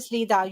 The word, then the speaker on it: slida: It's spelled slider, by the way. Slida. It's actually slida. You're right. It's slida.